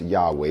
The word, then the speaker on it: Yahweh: that will not be named what is actually pronounced yahweh because you can't pronounce it without the vows